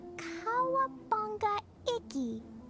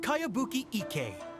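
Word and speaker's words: Kayabuki Ikka: one i've never heard of it hmm by cowabunga icky your mia this is a really strange name who's this cowabunga it's pronounced kayabuki ek that would be me outlander brigade is a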